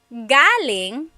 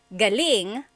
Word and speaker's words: galing: So, galing, the emphasis is on the first syllable. That means coming from. David Jr. on Instagram just asked the same question too. Galing means good or great. So if the emphasis is on the second syllable, galing, that means good or great or excellent.